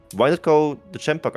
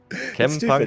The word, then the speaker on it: Chempunk: Chempunk English is, yeah. Actually, I just noticed it. Yeah, it's both CH, it's but like they are chemical. pronounced differently. Yeah, because it's like chemical and chain.